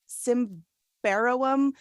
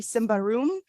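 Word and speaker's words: Symbaroum: forgetting how to pronounce I thought it was simbarrowum but it's apparently Simba room baby it's like a really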